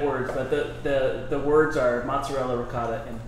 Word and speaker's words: mozzarella: Hey, while we're on that, I want to say that mozzarella is pronounced mozzarella, ricotta is pronounced ricotta, prosciutto is pronounced prosciutto. It's not rigot, mozzarella, or prosciutto. Those are East Coast American.